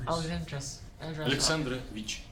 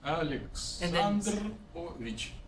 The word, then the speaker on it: Alexandrovich: Alexandrovich. Okay. Like Alex. Alexandrovich.